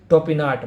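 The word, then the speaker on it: Topinard: टोपिनार्ड ये जो मैंने आपको बताया ऊपर, इसका एग्जैक्टली जो प्रोनाउंसिएशन होगा ये आपको होगा टोपिनार्ड, मानव शास्त्री टोपिनार्ड।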